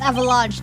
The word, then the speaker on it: avalanche: We don't pronounce che at the end of avalanche.